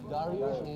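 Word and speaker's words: Dariush: You know, Darush is the Persian pronunciation for Darius.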